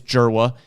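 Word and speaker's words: Dzierwa: We'll start with Jera, who if you are looking at trying to pronounce the last name, it is Jera. It is a very complicated spelling, but we're pretty sure on the pronunciation there.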